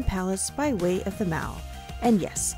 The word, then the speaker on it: Mall: by way of the Mal and yes it's pronounced like that not like shopping mall as we commonly know it in the US the m in London